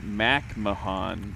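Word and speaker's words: McMahan: uh Sean says it's Mac Mahan macmahan Mac Mahan so it's actually set it's actually pronounced the way that it's spelled macmahan that's got to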